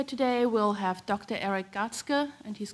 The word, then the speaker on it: Gartzke: Eric catskil and he's given me permission to pronounce his name in the German way so he's a professor